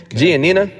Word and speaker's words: Giannina: uh Gene how do you say her name giannina giannina and Nick Lachey uh they're making love